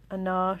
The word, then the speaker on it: Ajna: end in the um ana chakra i think that's how you pronounce it it's a g-n-a these two currents of